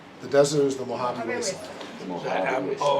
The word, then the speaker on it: Mojave: Mojave. O Mojave. Just like Mojave Desert, man. M O J A V E.